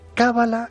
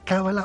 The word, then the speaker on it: cábala: nuestra propia evolución Mario es cábala con el acento en la primera eh vocal cábala o cala eh A